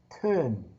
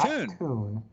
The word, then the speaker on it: Teun: I've been studying here, and it's pronounced Teun, not Teun.